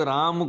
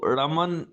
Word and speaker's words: राम: जैसे कि भारत में ही हम लोग राम को राम बोलते हैं, लेकिन दक्षिण में उन्हीं राम को रमन रामन ऐसे बोलते हैं। बंगाल में वही रामो हो जाते हैं, उनको रामो बोला जाता है।